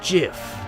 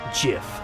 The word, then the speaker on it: GIF: it's not the truth it's pronounced jiff huh dot jiff like the peanut butter the creator said so that's dumb it's graphics